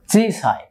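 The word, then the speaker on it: 小さい: কাঞ্জির উচ্চারণ হচ্ছে চিসাই মানে ছোট, চিসাই মানে ছোট।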